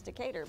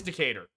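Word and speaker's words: Decatur: New Orleans mentality in in Alabama that is decator but this is probably decer the why is it gonna be some the the cat your the cat your the cat the decahedron oh there's a decar Alabama and in New Orleans the street is called decar oh so it is decater horrible New Orleans horrible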